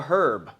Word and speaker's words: herb: to be labeled a herb. And the irony of feeling like a herb is not lost on me when later in life someone corrects me about the silent H when referring to a plant.